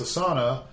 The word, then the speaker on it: Asana: as android right so it's asana or at least that's how we pronounce it a s a n a whatever it's a good